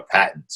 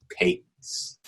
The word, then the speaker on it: patent: They call it patent. It's spelled the same way. Oh. US, it's patent. In the UK, patent. Oh, okay. In the UK, it's patent.